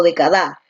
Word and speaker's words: década: Tú dices década, ¿no? Donde la fuerza de voz está aquí. A ver, vamos a realizar el silabeo. De, ca, da. Listo. La fuerza de voz está aquí en D, ¿no?